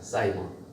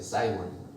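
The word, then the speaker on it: Simon: 시몬은 영어식 발음으로는 사이몬입니다. 사이몬. 영어 단어 중에 사이몬이라는 단어가 있어요. 사이몬.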